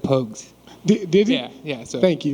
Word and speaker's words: Pogues: what's the what's the what's the proper way to say Pogues pokes yeah it's po juice Pocus I've heard everything you heard of but it's Pogues and Jamal pokes and see